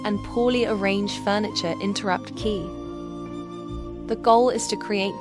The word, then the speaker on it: qi: The first principle is qi, pronounced qi.